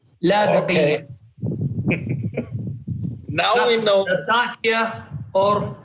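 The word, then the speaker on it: اللاذقية: As an Arab, I've been to Latakia before. It's called Al-Ladiqiyya. Ladiqiyya.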